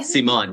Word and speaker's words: Simón: I don't even know how you're really meant to Simon, pronounce it. yeah. Simon, yeah, that's it.